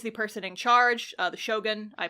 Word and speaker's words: shogun: The shogun, I pronounced it weird. The shogun. Shogun! It's like a shotgun, but it's Shogun.